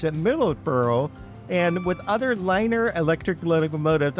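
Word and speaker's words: LNER: Middlesbrough, and with other liner electric locomotives. I saying liner because it's actually L-N-E-R. I'm sure you might pronounce that another way, but I'm calling it liner, so bear with me.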